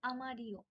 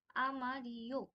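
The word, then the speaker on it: amarillo: have yellow yellow হচ্ছে আমারিও আমারিও আমরা যেটা শিখেছিলাম যে ডবল এল যেই ওদের অ্যালফাবেট অর এক্সেন্ট যাই বলি না কেন যেটা আছে সেটাকে ওরা ই এর মত উচ্চারণ করে সো এটার প্রোনাউন্সিয়েশন হবে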